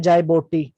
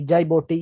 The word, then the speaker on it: Djibouti: ये दूसरा कंट्री है जाइबोटी, ठीक है। DJIBOUTI, जाइबोटी। ये डी साइलेंट है, जाइबोटी से पढ़ेंगे, DJIBOUTI, जाइबोटी, ठीक है।